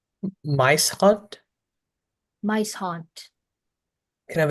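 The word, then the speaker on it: muishond: Is there any alternate pronunciations? Mice haunt or mace haunt?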